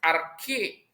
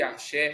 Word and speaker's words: arché: português então um um grego leria essa palavra arque nós podemos ler arque arché sem nenhum tipo de problema tá essa causa primordial